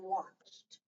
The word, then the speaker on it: watched: And how did you pronounce that ed in watched? With T. It's T. Right.